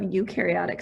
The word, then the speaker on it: eukaryotic: you are made of eukaryotic cells so one way to remember this one is you which is how this is pronounced you are made of